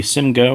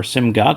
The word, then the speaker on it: SIMGOT: going to talk about the Simo or simgot depending on how you pronounce it the et42 so that